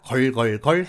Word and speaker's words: girl: 그러면 이제 드디어 여자 걸걸걸 해보겠습니다. 일단 GIRL에서 L은 빼고 GIR까지만 발음해보려고 합니다.